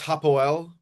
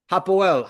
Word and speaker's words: Hapoel: I believe it's Hapoel. Hapoel.